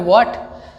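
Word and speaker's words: thwart: ठीक है, अब थ्वाट में देखिए आप अगर इसको पढ़ें केवल तो आर तो साइलेंट होता है, तो क्या पढ़ेंगे, व्हाट।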